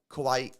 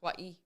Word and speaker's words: kawaii: like little coasters of kawaii kawaii art kaai art no I think it's Kawaii kaai I think that's I think I've been pronouncing it wrong my whole life um so